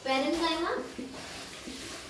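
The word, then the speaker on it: parenchyma: Please इनकी pronunciation और इनको बोलने का तरीका अच्छे से सीख लेना। पैरेन्काइमा, कोलेन्काइमा एंड स्क्लेरेन्काइमा।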